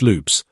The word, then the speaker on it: Lopez: Paul Conover, owner of Amitil Liquickers, and Rafe Lopez, pronounced loops, a dark-skinned Portuguese elected to the board by and a vocal defender of the town's black community.